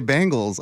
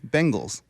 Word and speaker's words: Bengals: doing it right no saying Bengals it's really Bengals it's a Bengal tiger yes yes yeah yeah